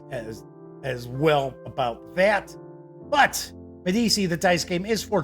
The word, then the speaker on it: Medici: So it's Medici. Thank you, Kabuki Kid. Kabuki Kid seems to be my pronunciation guide.